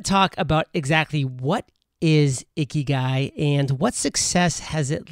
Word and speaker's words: Ikigai: while on Entrepreneurs on Fire is this phrase, Ikigai. And I know I'm pronouncing that correctly as far Yes. as I know. Good, thank you. And I want to talk about exactly what is Ikigai and what success has it led to for you?